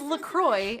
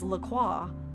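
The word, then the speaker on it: LaCroix: But it turns out, in case anyone was wondering, it is Lacroy in the US, but I also wasn't crazy for thinking it was Laqua because it seems like a French term.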